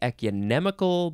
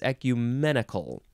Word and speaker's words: ecumenical: to switch those around E I want to say ecunemical but it's ecumenical adjective from Circa 15871